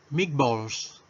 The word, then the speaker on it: meatballs: Meatballs. Meatballs. Meatballs. Recuerden que cuando tenemos, ¿verdad?, una E seguida de una A en una palabra en inglés, ¿verdad? Esa E y esa A la pronunciamos como I.